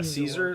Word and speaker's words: Caesar: Yeah, Caesar, like scissor, I think.